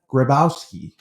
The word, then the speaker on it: Grabowski: special guest my first Yukon baseball Alum Grabowski did I say that last name correctly you